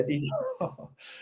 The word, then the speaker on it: DIDO: Yeah, DIDO.